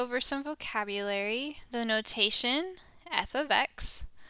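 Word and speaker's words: f(x): see parentheses x parentheses how we read that is we're going to read that as f of x that is how you say that f of x and so f well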